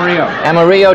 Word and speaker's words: Amarillo: see oh he said Amarillo Amarillo Texas that's the way the Spanish people pronounce it Amarillo is also means